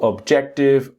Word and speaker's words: objective: The next one is Jack. Object. And later is Tiv. Not T butiv. Objective. Objective.